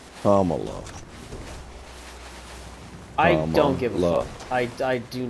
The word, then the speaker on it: Kamala: WR camel to Harris I just said camela but it's Camala no it's Kamala I I don't give